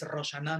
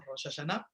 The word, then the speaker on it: Rosh Hashanah: Rosh Hashanah, bueno, que en el vocablo sefaradí es Rosh Hashanah, no Rosh Hashanah, por eso me estoy comiendo una sílaba, ¿ok?